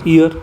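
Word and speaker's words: year: अब आप बोलोगे कि ये तो ईयर है, क्या है, ईयर, तो यहाँ पर एन आना चाहिए, नो, जो ईयर होता है इसको इंग्लिश का जो प्रोनाउंसिएशन होता है वो ईयर होता है, क्या, ईयर।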